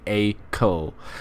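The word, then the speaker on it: Acle: it's AAL cuz Ellie Ellie actually corrected me on the pronunciation of AAL it's it's a I thought it was AAL or something like that it's actually a CO um with a limited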